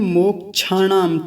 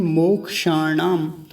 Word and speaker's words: मोक्षाणाम: इसको कुछ लोग बोलते हैं मोक्षाणाम, छ बोल देते हैं, छाता वाला छ। तो मोक्षाणाम नहीं, मोक्षाणाम।